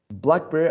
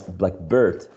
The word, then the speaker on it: blackbird: So blackbird, greenhouse, toothpaste, toothbrush, all these compound nouns, nouns made up of two elements, right, are stressed on the first syllable.